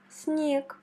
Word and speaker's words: снег: Quand tu rencontres G à la fin des mots, il faut la prononcer comme K. Ce qui nous donne снег, снег.